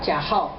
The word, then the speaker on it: Cajal: this name It's called Cajal Okay It's a Spanish name In 1887 Cajal used